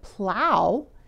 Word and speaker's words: plow: We already know that snow is pronounced with a long O, but plow is pronounced as the diphthong ow, a two-part sound that doesn't sound anything like that long O.